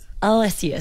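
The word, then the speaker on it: alliaceous: A-L-L-I-A-C-E-O-U-S. But it's pronounced Alysius.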